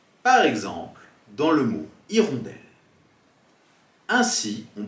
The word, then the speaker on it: hirondelle: En français, en début de mot, la lettre muette peut être un H muet, on peut alors faire une liaison. Par exemple, dans le mot hirondelle. Ainsi, on prononcera une hirondelle ou des hirondelles.